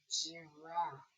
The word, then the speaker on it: giraffe: Then I have giraffe. Giraffe. You hear that? Giraffe. And giraffe has two F's and a silent E.